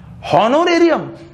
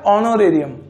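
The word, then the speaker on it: honorarium: ये ऑनोरेरियम, ठीक है। जैसे आपने मोबाइल सुना होगा, एक ऑनर का मोबाइल आता है, उसकी भी स्पेलिंग यहीं तक होती है, HONOR होती है शायद, इसी टाइप से कुछ होती है ना। तो ऑनोरेरियम है।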